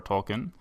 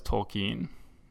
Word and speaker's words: Tolkien: Actually, one thing he needs to set us straight on, too, is our pronunciation, because for my entire life, I've always thought of it as J.R.R. Tolkien, but Corey says Tolkien, and he is the Tolkien professor, so I'm sure he's right.